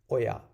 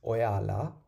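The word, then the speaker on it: ඔයා: And you singular is oya, oya, oya. So you have to stress the ya of oya.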